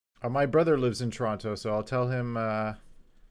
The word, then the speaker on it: Toronto: too far from toronto we say it different in canada we say toronto we don't pronounce any teasers my mother said she